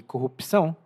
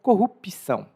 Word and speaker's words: corrupção: Algumas pessoas até falam corrupção. Em Portugal, eles falam corrupção, o P é mudo, e tem essa diferença de pronúncia.